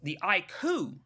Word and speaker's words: iQOO: The iQOO, that's how you pronounce it, the iQOO Neo 7 with the Dimensity 9000 Plus actually has a 5,000 milliampere.